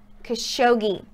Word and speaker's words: Khashoggi: update on Jamal khashoggi I apologize I've been saying it wrong for a minute it is Jamal khashoggi so an update they're